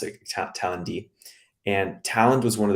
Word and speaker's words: Talend: One of them was a French company called Talend, Talend with a D. Some people pronounce it Talend.